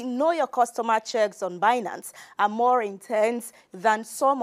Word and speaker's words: Binance: him to read now he can't even pronounce the name properly well he says bance or something but binance maybe just like finance and finance both are correct then Teddy says the